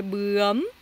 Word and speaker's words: bướm: je vous ai indiqué comment prononcer le bướm. C'est ưm. Donc la mâchoire, hein, en bas qui va monter un peu vers l'avant. Ưm. Elle monte, puis elle re-rentre. Elle re-rentre pour fermer. Donc c'est bum, bum, bum, bum.